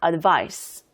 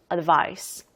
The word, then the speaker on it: advice: 돼요 자 그리고 또 중요한 거 동사 때는 advice 이렇게 S 그리고 발음이고 명사 advice 조언의 명사 이때는 C 그리고 발음이에요 동사는 advice 명사는 advice 자 그래서이 알리라 뜻으로